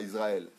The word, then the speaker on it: Israël: C'est pas IZ. Z, c'est pour Zoro. Israël.